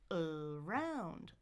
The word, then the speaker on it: around: So it's not da-da, it's da-da, da-da. Around, around, around. That's how I should be stressing that word. But it's not the most common pattern, so people make mistakes on that syllable stress.